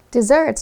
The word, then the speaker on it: desert: Dessert 就是甜点跟点心的意思。那提一下大家比较常搞混的，就是我们把一个 s 拿掉，会变成 desert。这个就是可以当名词或形容词，有沙漠或沙漠的意思。那它也可以当动词哦。不过当动词的时候呢，we pronounce it a little differently。我们会说 dessert，其实跟它的原本的甜点的发音是一样，那它就有抛弃的意思。那课文例句是 After a good meal, I like to eat cake for dessert。在一顿好料之后呢，我喜欢吃蛋糕当做甜点。